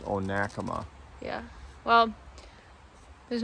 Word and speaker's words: Onekama: is our first like official day and not onakama what's it called oh nakama oh nakama we've